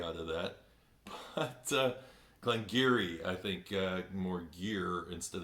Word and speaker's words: Glen Garioch: I got Glengarry out of that that's a Glen Geary I think more gear instead of gear this